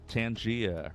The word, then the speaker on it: Tangia: Tangia rhymes with rhymes with Narnia. Not really, but close enough.